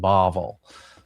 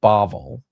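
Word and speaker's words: Bavel: But when the same letter is doesn't have the dot, it takes a softer V pronunciation. Bavvel. So um and remember we're reading this way. So that's the word Bavvel, uh Babylon.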